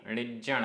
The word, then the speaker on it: णिज्जण: णिज्जण देसे णिज्जण आधा जा पूरा जा।